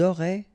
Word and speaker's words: auraient: Ils auraient, remember, ENT, you don't pronounce it, auraient, ils auraient, elles auraient.